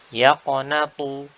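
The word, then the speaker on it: يقنط: Selanjutnya yaqnatu, yaqnatu. Di sini dengan menggunakan huruf ta.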